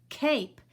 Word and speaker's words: cape: normal sound a kay remember E is silent K cape this is a cape